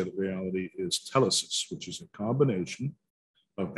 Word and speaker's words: telesis: I usually pronounce it telesis.